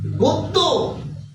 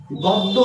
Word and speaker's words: গদ্য: নিয়মটা হচ্ছে পূর্বে যদি অধ্বনি থাকে এবং তারপরে যদি জ ফলা থাকে তারপরে যদি জ ফলা থাকে তাহলে পূর্বের অ এর উচ্চারণ হবে ও এর মত পূর্বের অ এর উচ্চারণ